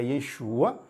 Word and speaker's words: Yeshua: diferente então o que acontece em hebraico você pronuncia Yeshua por em aramaico você pronuncia e eixo tá